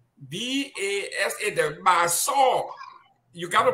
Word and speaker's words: Basaw: we call B-A-S-A, the Basaw. You got to pronounce it the right way. Saw, S-A-W, just like the way you saw some in the past tense of C. So we want to add Basaw.